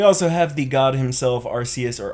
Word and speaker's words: Arceus: a chuckle we also have the God himself Arceus or Arceus however you want to pronounce that I say Arceus it just sounds better we also have lugia